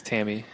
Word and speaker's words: Tamme: excuse me ta Mme I think it's Tammy if it's pronounced the same way that Jacob Tamme beats a tight end in the NFL all right Annie maybe